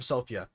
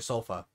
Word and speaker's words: Sofya: up and today oh she actually said her name Sophia that's how I used to say her name but then everyone calls her sofa so what's going on